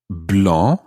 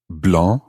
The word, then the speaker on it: blanc: exactly the case with the word for white blah is spelled b-l-a-n-c blah and if we were